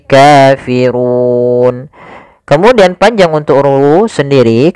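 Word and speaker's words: كافرون: Kafirun padafu di sini ro tebal yaitu ro tafhim rnya dibaca dengan tebal Kemudian pada lafal Run Itu ada bacaan madukun Mad yang terjadi disebabkan karena adanya sukun Arid Apa itu sukun Arid sukun yang muncul disebabkan karena waqaf awalnya kafiruna karena waqaf nunnya kita matikan menjadi Kafirun kemudian panjang untuk ru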